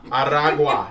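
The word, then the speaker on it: Aragua: MS13 and Venezuelan gang Tren araga araga you roll your RS traga will be added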